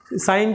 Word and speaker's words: sine: तो इसलिए इसको साइन बोलते हैं। अदरवाइज आप बोलोगे SIN तो सिन होता है, तो साइन क्यों बोलते हैं, बिकॉज इसका जो पूरी स्पेलिंग है SINE, साइन है।